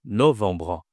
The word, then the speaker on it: novembre: Attention, ici à la nasale enbre. Vbre. Ici c'est no novembre. Bon français je pense disent novembre ici mais on n pas le ha accent circonflexe. On a juste un ha normal.